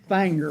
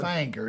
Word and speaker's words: Finger: No, it's pronounced Fanger. Finger, yeah, Yeah, Finger, Tennessee. if you're from down there, you call it Fanger.